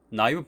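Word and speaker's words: naïve: 나이브 베이지안의 그런 나이브라는 스펠링에 위에 있는 이 표시는 분리라고 불리우는 기호입니다. 그리고 이것이 언제 쓰이냐면 A와 I가 같이 한 번에 발음되지 않는다. 나이브로 분리해서 발음해달라 라는 의미로 사용된다고 합니다.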